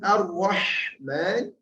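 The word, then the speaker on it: الرحمن: Kemudian ar-Rahman kuncinya ha tadi menjadi tipis dan ditekan tengah tenggorokan cara bacanya.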